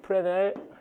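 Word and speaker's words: Fresnel: 이걸 이제 프레넬 계수, 이제 이런 것들을 프레넬 계수, 프레넬 이 S 묵음이에요. 프랑스 사람이라 프레넬 코에피션트.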